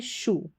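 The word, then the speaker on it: shoe: वो, और यह है शू, शू, इस तरीके से। तो यहाँ पर शू में ओ ई का उच्चारण ऊ करके हो रहा है।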